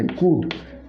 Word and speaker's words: could: एल थाए तेज L silent हुए L letter silent हुए या पढ़ा यहाँ पढ़ा जीव ना कुड डायरेक्टली यहाँ पढ़ा जीव कुड कह कैन कुड